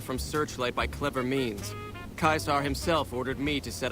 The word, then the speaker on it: Caesar: I mean, they're not that off, though, because in Latin, the Romans actually spoke like that. They used a hard C for everything. Like, they did say Caesar, they did say Centurion. It's like only in later times where we have more or less anglified it into a soft C.